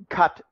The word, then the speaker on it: Qatar: arab oil monarchy it's they pronounce their country cut qatar i pronounce it qatar forgive me I've just always called it qatar anyway the qatar ease